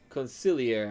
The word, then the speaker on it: consigliere: Consigliere, actually, I think is how it's technically pronounced.